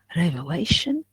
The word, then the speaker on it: revelation: in here we have revelation television so here at the end so you have to stress the v in here and and lay revelation okay so we call it penultimate syllable penultimate means the second